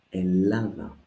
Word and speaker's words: Ελλάδα: Ελλάδα. The double lambda does not affect the pronunciation, just spelling rule.